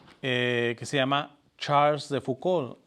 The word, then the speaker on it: Foucauld: Carlos de Foucauld, San Carlos de Foucauld o San Charles de Foucauld. Para los que quieren escribir, el apellido sé que él es francés, se escribe F-O-U-C de casa A-U-L-D de dedo. Foucauld.